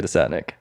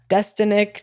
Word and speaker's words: Desatnick: other with uh desotnik Squad I actually pronounce my last name right yeah thank you how do people with other products people butcher it every time like destinic the Santa just and like growing up